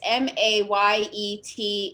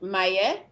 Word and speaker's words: Maye: get perfectly technical it's m-a-y-e-t in french okay so for english it's pronounced maya for english she's like